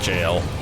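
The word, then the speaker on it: Gaol: of the granite jail i know it's just granite gowell but it's pronounced grand jail and there goes the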